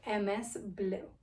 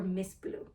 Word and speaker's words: MSBLUE: some amazing Fine Jewelry by Ms blue or Miss blue that's how I like to pronounce it anyway so I got